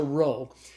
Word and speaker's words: rho: but it's it's a row so the row is the R sound like the R in the English word rod so Omicron P Rho